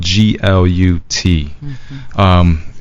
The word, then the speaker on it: Glut: Glut, but it's spelled Glut.